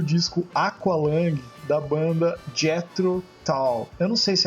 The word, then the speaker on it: Tull: Aqualang da banda Jetro Tal. Eu não sei se é assim que pronuncia. Jetro to. Jetro Tal é to como ferramenta.